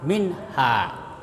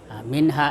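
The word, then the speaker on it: مِنْهَا: Ya, harus jadi bacanya harus terang ya nunnya itu harus terang. Harus terang dan pendek tidak boleh panjang minha. Jadi jangan dikasa min tapi minha.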